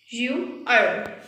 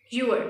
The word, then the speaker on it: ewer: pronunciation of this, and the correct pronunciation is your. You-er. Again, hear it carefully. The correct pronunciation is your. Your.